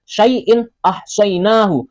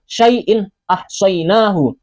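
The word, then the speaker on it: شَيْءٍ أَحْصَيْنَاهُ: Cara membacanya juga jelas sama seperti tulisannya. Syaiin ahsyainahu, syaiin ahsyainahu. In a, in a.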